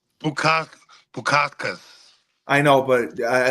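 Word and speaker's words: Bukauskas: He's 33 years old, and he's fighting Modestas Bukaki. I'm just saying Bukaki because I can't pronounce his last name. Bukakas.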